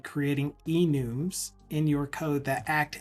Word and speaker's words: enum: in 2021 that I started pronouncing it enum, because my team lead, my project manager, pronounced it that way. And I'm like, that makes a lot of sense. It's short for enumeration.